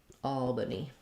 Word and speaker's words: Albany: first syllable stress just like the word all so that vowel is um the a vowel like in Saw um so you can rewrite it with aw if that helps you um and then the second letter a is going to be a vah Al Albany um yes Albany